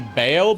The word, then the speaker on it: Baal: Yeah, And, Bale or Baal, depending on how you pronounce it. The proper pronunciation would be Baal because the name before later Christian denominations decided that Baal was a demon.